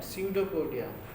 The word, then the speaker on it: pseudopodia: Same way here, P is silent, pseudopodia.